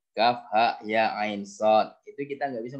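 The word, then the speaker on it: كهيعص: Bukan alama, ya, bacanya kan, bukan alama, enggak, tetapi alif lam mim gitu kan, sama dengan Kaf, ha, ya, ain, sod.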